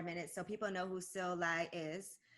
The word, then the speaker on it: Sil Lai: Well, let's talk about yourself for a minute so people know who Sil Lai is, right? And it's, I love that you pronounced my name correctly, by the way.